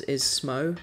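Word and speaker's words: Smough: I think that the official pronunciation of Executioner Smau is Smo, but I've always said Smau because it's got an O-U-G-H sound, which in English is usually an ow.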